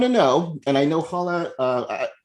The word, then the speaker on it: Hala: But yeah, actually the way that my name is actually really, pronounced is Hala.